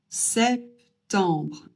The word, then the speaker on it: septembre: Et on prononce re à la fin parce que au cas où vous ne l'auriez pas remarqué, c'est pas e r mais r e donc re et non pas.